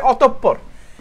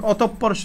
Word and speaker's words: অতঃপর: এখানে চন্দ্র বিসর্গ আছে না, যদি দেখো বিসর্গ আছে এরপরে যেই বর্ণটা থাকবে সেটা দ্বিতীয় উচ্চারণ হবে, সেটা কি হবে? দুইবার, কয়বার? দুইবার উচ্চারিত হবে, দুইবার উচ্চারিত হবে, ঠিক আছে?